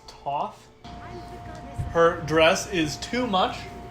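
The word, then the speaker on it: Thoth: names no it's pronounced ang andrew gosh it's pronounced toth her dress is too much but also not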